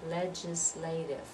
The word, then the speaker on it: legislature: then we come to legislature from four syllables and this one delay is the one that receives dress so it's the legislative